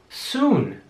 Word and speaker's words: soon: Das Doppel-O wird wie ein langes U ausgesprochen. Soon.